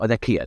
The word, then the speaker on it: Nakia: So Nakia, that's right.